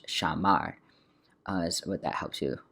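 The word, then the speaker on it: שמר: And by the way, this is the stress, so it's not shamar, it's shamar, is what that helps you figure out.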